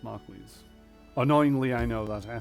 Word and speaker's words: marquis: smug dimwit with a marquez title has worse manners than his horse marquise title i know but it's spelt marquis but it's actually pronounced marquise annoyingly i know that